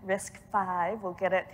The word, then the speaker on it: RISC-V: RISC-V, we'll say it correctly here for the video.